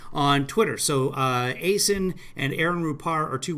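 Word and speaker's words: Acyn: on acen's page that's at a y a c n rhymes with jason on twitter so uh aysin and aaron rupar are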